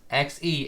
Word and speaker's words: Xe: Besides the fact that it's pronounced XE and not Z.